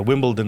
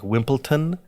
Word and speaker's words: Wimbledon: yeah like you know Wimbledon is going on right now and I can't tell you like how many people I hear every day say wimp like wimpleton it's not a big deal